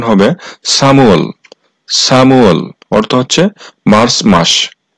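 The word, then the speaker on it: 삼월: তথা মার্চ মাস আর এই সামু এর সঠিক উচ্চারণ হবে সামুয়াল সামুয়াল অর্থ হচ্ছে মার্চ মাস সাউল সা অর্থ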